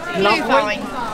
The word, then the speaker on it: Glühwein: How to pronounce that? Glühwein.